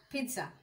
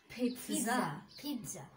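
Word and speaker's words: pizza: What's your favourite food পিৎজা এটাকে আমরা বলবো পিৎজা এটাকে যদি আমরা স্পেলিং এ কিন্তু টি নাই, কিন্তু আমরা যখন এটাকে উচ্চারণ করব তখন কিন্তু আমাদেরকে একটা টি সাউন্ড নিয়ে আসতে হবে, ঠিক আছে?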